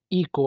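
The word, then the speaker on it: echo: देखें H silent है इको आवाज का गूंजना इसमें भी एच साइलेंट है उसके बाद घंटा जो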